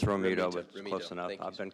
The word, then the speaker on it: Romento: apologize if I'm not mispronouncing that but I think I'm Roto it's it's R it's Romeo but close enough I've been called a lot